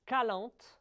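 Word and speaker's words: Calanthe: The name is Calant, C-A-L-A-N-T-H-E. Correct. Correct? Yes. Good pronunciation.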